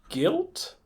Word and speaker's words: Gylt: Guilt? Yeah. Yeah. For our listeners, it's spelled GYLT.